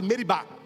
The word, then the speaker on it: Meribá: Nas leituras, geralmente a gente lê Massa e Meriba, mas a pronúncia certa é Massá e Meribá.